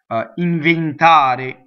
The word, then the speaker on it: inventare: So any E's, because the accent is on the A, any E's in a word will be closed, right? Aspettare, inventare. So close the inventar.